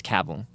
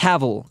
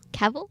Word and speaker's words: Cavill: with how you pronounce Cavill. Henry, how is it pronounced? Cavl. Caval. Is it Cavil? It's not. I've never heard Cavil.